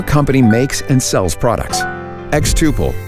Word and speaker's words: xTuple: makes and sells products xtuple rhymes with quadruple and means to grow